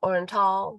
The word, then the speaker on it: Oriental: It's spelled Oriental, but I was told it's pronounced Orenal, North Carolina.